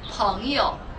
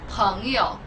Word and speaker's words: 朋友: Friend is pronounced 朋友. 朋友.